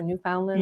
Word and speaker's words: Newfoundland: I don't know if that's how you say it, Newfoundland or Newfoundland.